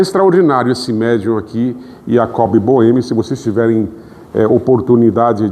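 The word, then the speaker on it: Jakob Böhme: Yacob Bohemi, se vocês tiverem eh oportunidade de pesquisar, eh escreve com J, né? em português é Jacob, Jacob Boemi em alemão pronúncia com I, Jacob.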